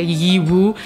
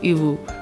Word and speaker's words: Yiwu: if I'm speaking Pashto so I'm not gonna say yee-whoo it's you you don't really open your mouth I mean I may